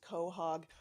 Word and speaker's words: quahog: This poem is called Invitation, and just a quick note, I love the word quahog, but I was told later that it's actually pronounced quahog. So, and I know we